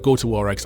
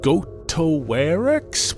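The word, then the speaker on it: Goatowarex: was like ah it's it said out loud like going to war go to warx I was like go towarex what the [ __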